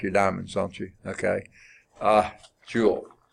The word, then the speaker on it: Joule: diamonds don't you okay Joule it's not spelled like that it's about jou l.e named after James Prescott